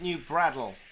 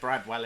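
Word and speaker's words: New Bradwell: Not sure who brought you up, but it's pronounced New Bradle. No W. It's Flitwick all over again. He literally said Bradwell in the film.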